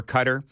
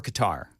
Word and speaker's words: Qatar: WTN newsroom pronunciation for cutter? Do we want to use cutter or guitar? You could use either. They changed it, you know, at some point. I always thought it was Qatar.